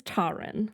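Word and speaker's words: Taran: Let me check the pronunciation guide. The book does in have my a book. pronunciation It does guide. have a pronunciation, which was some help. This says Taryn. Taryn. Okay, Taryn. we'll just say Taryn then.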